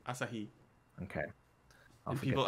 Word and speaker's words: Asahi: Asahi. It's all the syllables are the same duration. Asahi. Asahi.